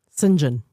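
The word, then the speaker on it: St. John: No, there is a man whose character guy goes by the name of Saint John Hawk. Singen. Singen. I remember. Singen. Singen. That's what that's how it's pronounced.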